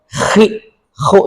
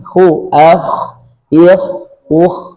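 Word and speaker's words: خ: Khi khu ini juga keliru enggak boleh. Jadi cukup baca khu akh ikh ukh tidak sampai ko khi khu tidak sampai demikian.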